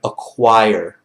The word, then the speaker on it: acquire: Pronunciation of the word acquire. Okay, just repeat after me. Acquire. Acquire. Acquire. Acquire. Not acquire. Acquire. That's it, okay?